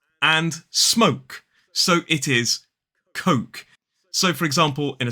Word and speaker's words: Coke: This drink is Coke, K-O-K. It is not pronounced cock. So it's all about that vowel sound. It's an O, not an O.